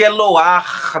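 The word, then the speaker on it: אלוה: de Deus noso singular esse Eloar no final esse re né que eu pronuncio aqui como se fosse um R aí ó Eloar ele tem uma pique né que é no esse rein no final é um gutural e as guturais elas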